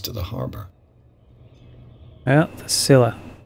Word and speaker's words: Scylla: The Scylla. It finished up beached at the entrance to the harbor. Well, the Scylla. They said it for me. Now I know how it's pronounced.